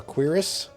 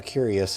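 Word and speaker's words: cuirass: I guess it's called a a quirus. I've been calling it a curious, but then I found out I was saying it wrong.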